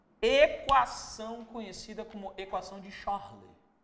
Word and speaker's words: Charles: conhecida como equação de Charlei ó equação de porque ele era francês e no francês nós não pronunciamos o s no final por exemplo aquelas bolsas